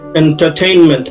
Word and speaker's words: entertainment: entertainment মূলত যেহেতু আমি ব্রিটিশ ইংলিশটা ব্যবহার করছি, এই আর এর উচ্চারণ নেই এখানে, একটু লম্বা করে entertainment, হ্যাঁ, এই আরটা পড়ে যাচ্ছে।